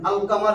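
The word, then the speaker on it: القمر: আল কামার তার মানে কামারি হরফে লামের উচ্চারণ হইতেছে, কামারি হরফে লামের উচ্চারণ হবে।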